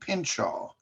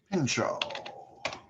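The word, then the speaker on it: Pinchot: over a guy named pinshaw i don't know how to spell it guys man pincho oh because it's not spelt like it's supposed to be uh now this is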